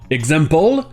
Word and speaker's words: example: le plus souvent mais vous trouverez aussi le xe prononcez faisons comme si c'était gzl the c'est en général dans les mots commençant par le x suivi d'une voyelle comme par exemple dans example ou encore existe et vous